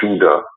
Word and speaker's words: Judah: would they say the kingdom of Jude oh no I'm sorry I got it right they spell it j-u-d-a original Behavior the kingdom of Judah why would this journalism